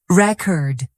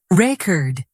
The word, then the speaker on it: record: Another example, noun. Record. I bought a new record. Verb. Record. I want to record a song. Stress changes the meaning.